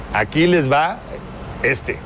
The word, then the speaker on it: Aquiles va este: So when you pronounce it, Aquiles va este, no?